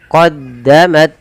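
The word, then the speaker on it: قَدَّمَتْ: Kemudian qaddamat aydihim, qaddamat. Nah, di sini tidak boleh memantul nyetaknya, misalnya qaddamat aydihim tak ya, gitu misalnya memantul, atau menggantinya dengan huruf sa misalnya.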